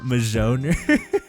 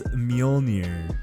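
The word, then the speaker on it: Mjölnir: say it Thor's hammer I was calling it majoner I feel like such a nub oh man okay so it's mjolnir right that's Thor's hammer even though there's that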